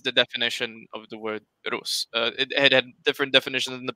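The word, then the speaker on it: Русь: soft e is there's that means it should be pronounced as rusi uh and that's where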